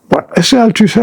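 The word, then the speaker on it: Althusser: era una llam al altiser pronunciado en francés altuser era personaje que estaba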